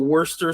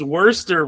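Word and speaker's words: Worcester: Like a little bit wor a little bit of worester sauce, which I learned is the actual pronunciation of that.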